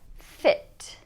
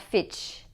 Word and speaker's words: fit: Or in this word here, fit, fit, not fitch, fit.